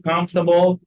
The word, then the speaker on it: comfortable: What's the meaning of comfortable? معناها مريح. Comfortable يعني إيه؟ يعني مريح. يبقى traveling السفر مش مريح. Traveling is not comfortable. خلي بالك إنه comfortable الأول R مش بيتنطق.